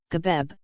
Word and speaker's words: Geb: Geb, Ancient Egyptian, GBB, Egyptological pronunciation, Gebeb, also known as Sib,